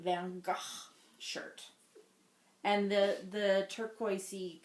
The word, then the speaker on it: Van Gogh: it's it's blue raspberry how am i supposed to say well to truly say it correctly first you must become dutch um i don't have time for that today so how else can i say it my stargate van gah shirt and the the